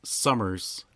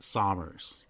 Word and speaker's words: Sommers: So my last name is Summers with an O. Mike would pronounce it Sommers.